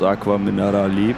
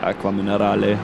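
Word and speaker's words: Acque Minerali: I always I always thought it's called Aqua Minarali, but uh apparently that's just how the English people how the English speaking people pronounce the name because actually it's an E like Aquaminale.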